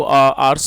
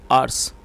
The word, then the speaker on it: hours: चलिए आगे देखते हैं, A few hours later, वैसे इसको आवर्स पढ़ते हैं, तो कई लोग इसको आवर्स पढ़ते हैं, जो कि गलत प्रोनाउंसिएशन है। जो इसकी करेक्ट प्रोनाउंसिएशन है वो है आवर्स।